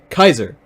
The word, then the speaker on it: Caesar: No, Kaiser is the pronunciation of Caesar in part 7.